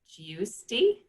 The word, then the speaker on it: Giusti: So here's a question from, and forgive me, Sarah Giusti. Sorry about what I just did to your last name. No, you said it right.